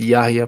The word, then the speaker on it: Yahya: You pronounce Yahya perfectly.